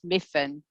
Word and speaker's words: Myfan: i'll just uh just correct you on pronunciation of my name that's all right that's miffen yeah but uh people have